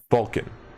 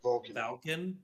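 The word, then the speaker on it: Valkin: storm hauler isn't it vulcan sorry what goliath merchant that was what i wrote sorry what'd you write falcon not vulcan yes v-a-l-k-i-n folk i'm pronouncing it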